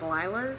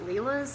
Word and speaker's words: Lila's: So I've been pronouncing this as Lila's studio. Apparently it's not. Apparently it's Leela's studio.